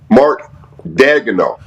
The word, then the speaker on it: Daigneault: Mark Daigneault.